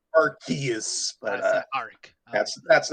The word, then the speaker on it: Arceus: I know it's supposed to be pronounced with a hard C.